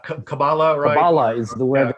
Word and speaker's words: Kabbalah: in hebrew uh uh typically the the stress is put on the last syllable um so kabbalah would be a would